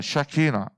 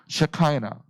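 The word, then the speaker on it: Shekinah: 샤키나, 셰카이나, 샤키나, 셰카이나. 발음 똑바로 해야 돼.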